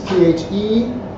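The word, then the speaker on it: θησαυρίζω: Thesaurizo. That's Thesauridzo. Thesaurizo.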